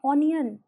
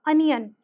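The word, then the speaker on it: onion: को ज्यादातर लोग बोलते हैं ओनियन बट नहीं यहां पर अ का साउंड आएगा अनियन इसी तरह से होता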